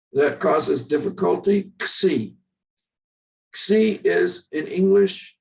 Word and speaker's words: Xi: It's not, it's an X, Xi. And when in a word, it's simply as you would pronounce X in any English word.